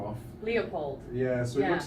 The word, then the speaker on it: LEOPLD: Leopold. Yeah, so it looks like Leopold, but we tried to copy the weekend, so you pronounce it in the same way, but you cross off one of the letters.